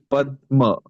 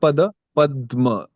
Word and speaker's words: padma: pua is normal but when we say padma so we are actually giving a pause here p right so because of that the satsanga this is prolonged the pronunciation padma it's not pa padma so that's why it's